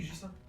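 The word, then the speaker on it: Ghislain: Ah oui, Gislain.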